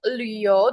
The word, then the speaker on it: Liu: Oke, Laoshi akan jelaskan dulu untuk Liu. Di sini kalau kalian lihat, nada bacanya ada titik 2, lalu nada ketiga. Nah, itu dibacanya sepertinya agak lebay ya. Jadi harus diputar lidahnya ke atas.